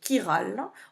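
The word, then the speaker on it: chirale: heroes ou de molécules qui sont qui râle on prononce pas le h ce qui veut dire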